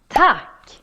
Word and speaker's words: tack: Tack, tack. A good hack to remember this word is to think about tick-tack. Tick-tack, like the clock.